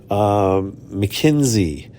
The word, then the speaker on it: Makensy: Mackenzie, which is spelled Makensy.